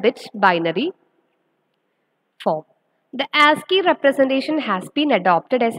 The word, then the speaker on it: ASCII: The code called ASCII is pronounced as ASCII, which stands for.